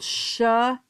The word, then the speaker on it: Samhain: So it was a big bonfire and these were called shaan shenanigans. And I broke that down because it's not spelled that way. It's spelled s a m h n a g- a n.